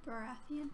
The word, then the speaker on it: Baratheon: Baratheon. Baratheon.